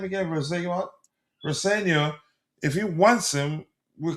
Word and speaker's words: Rosenior: Rosenior, if he wants him, we could see him again.